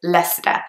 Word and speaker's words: Leicester: at the start of this video is Lester it's a very commonly mispronounced case name especially by people who